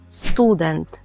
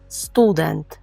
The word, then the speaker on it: student: бути уважним тому що наголос у польському слові стоїть деінде Ми кажемо Student Student можете До речі повторювати